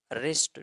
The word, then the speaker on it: wrist: ریسٹ، WRIST، ریسٹ W silent ہے.